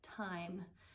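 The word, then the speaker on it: Thyme: But she's got the Old Time, and time is spelled like the herb, T-H-Y-M-E, or herb, if you pronounce it with H, Old Time Knits podcast.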